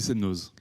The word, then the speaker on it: Semnoz: Rémi Batz, vous dirigez l'antenne de Semnoz, c'est ça? On le prononce comme ça, à côté d'Annecy? Oui, l'étape du Semnoz.